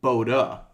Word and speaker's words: Bode: hold on time and the bode plot wiki page says that bode should pronounced pronounced as boda okay so what I've always heard it go does bode and I can't find another source on the web that supports boda sources I find our bode a bout a Pilate